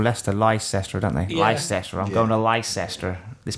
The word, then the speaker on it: Leicester: it should be pronounced, but no one. Yeah. It's like Americans call Leicester Leicester, don't they? Yeah. Leicester.